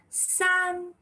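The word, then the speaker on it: 四: Coming to 4, and now 4 is very short, and since it's a 4 tones, you have to throw it out. How do you say that? S, throw it out. S, wako bar s, and the spelling is si.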